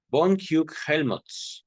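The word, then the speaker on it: Hug-Hellmuth: Estoy ahorita pronunciando de esta manera, les enseño el nombre de la colega del doctor Freud, ¿vale? Von Hugh o Hugh, von Huck-Helmut.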